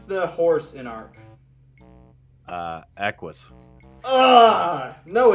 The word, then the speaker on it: Equus: How do you pronounce the horse in Ark? Equus. No, it's Equius.